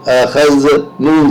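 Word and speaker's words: أخذن: زا زبر خذ، اخذ، نون زبر ن، اخذن، اس کا مطلب ہوگا لیا ان سب عورتوں نے۔ اور اگر اسی کو اگر الف پیدا ہو جاتا ہے، ن کی بجائے نا کا تلفظ ہو جاتا ہے، تو وہ بن جائے گا لیا ہم نے۔ دیکھیے کتنی معمولی سی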